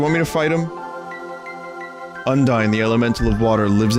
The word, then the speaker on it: Undyne: That name should be pronounced Undine or Undini.